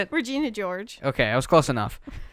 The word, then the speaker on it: Regina George: gut my favorite part of the movie when regina joyce gets take whatever regina george whatever however how do you say it regina george okay i was close enough um she gets